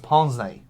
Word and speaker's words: pince-nez: She should know it's pronounced pince-nez.